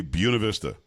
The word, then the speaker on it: Buena Vista: The name of the city, Buena Vista. was Vista? Buena Vista, but we would say Buena Vista. And if you said it wrong, you sound like you weren't even from there.